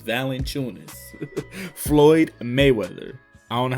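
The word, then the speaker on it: Valančiūnas: My friend want to say Valanciunas, bro. His name is Valanciunas.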